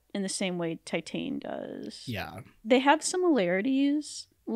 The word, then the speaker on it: Titane: I think it's pronounced Titane. Yeah. It's a French film, so however you say T-I-T-A-N.